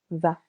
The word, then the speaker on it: vas: Tu vas. Silent S.